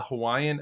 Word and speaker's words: Hawaii: mockingly eat musk alii you actually pronounce both eyes as like yeah Hawaii so in this